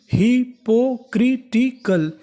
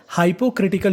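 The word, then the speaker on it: hypocritical: अल, तो मीनिंग बनी हिपोक्रिटिकल। हिपोक्रिटिकल, हिपोक्रिटिकल, हिपोक्रिटिकल का मतलब होता है पाखंडी। अगर आप चाहें तो इसका उच्चारण हाइपोक्रिटिकल भी कर सकते हैं, वो भी हमारा उच्चारण सही माना जाएगा।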